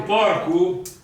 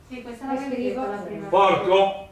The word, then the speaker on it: porco: Prima avevo detto porco, porco, la O abbiamo detto che si legge sempre U in finale di parola.